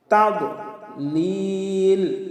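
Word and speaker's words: تضليل: তাদলিল, লিলে তিন আলিফ টান হবে।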